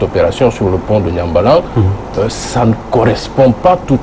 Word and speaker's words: Niambalang: C'est bien ça, on prononce Nyambalang.